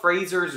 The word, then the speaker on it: Fraser: Then how come in Scotland they don't pronounce it Frazier? I'm not. Fraser.